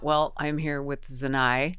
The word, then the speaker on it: ZNi: Well, I'm here with Zanai. Z and I. Zanai. Yeah, that's Zanai.